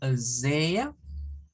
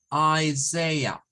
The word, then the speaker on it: Isaiah: Vamos a pronunciar la I como I, ¿verdad? Luego la S-A-I como Isaiah, Isaiah. Es decir, vamos a terminar con un schwa al final.